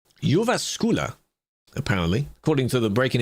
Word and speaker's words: Jyväskylä: How to pronounce Jyväskylä, apparently, according to the breaking it down phonetically.